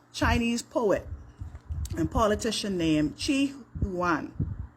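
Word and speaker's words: Qu Yuan: back to uh Chinese poet and politician named Chi huan it's spelled q-u -y-u-a-n and it is alleged that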